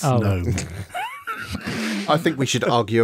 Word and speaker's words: GNOME: That was the K is silent. It's GNOME.